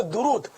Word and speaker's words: درود: تو ہے ہی غلط۔ صحیح تلفظ ہے درود، دال پر بھی پیش، را پر بھی پیش،